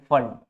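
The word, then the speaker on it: Pfund: ब्रकट और पांचवी में अगर आता है छठी सातवीं आठवीं से तो इसको बोलते हैं फंड पी एफ यू एन P silent रहता है और अगर छठी में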